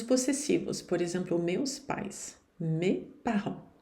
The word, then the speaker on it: mes parents: Mes parents. O T e o S aqui não se pronunciam. E o S na frente de uma outra consoante não se pronuncia também não. Mes parents.